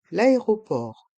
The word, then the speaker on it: aéroport: le pote le pilote l'aéroport l'aéroport le T de l'aéroport est mué la lettre T est muette l' éoport l'aéroport pratiquons